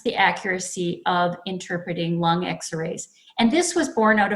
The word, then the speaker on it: XR AI: of the slide says XR AI we pronounce that X-ray and this project is